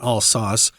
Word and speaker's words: Alsace: I was learning that in high school history, and we pronounced it Alsace, but as you said, it can have different pronunciations there.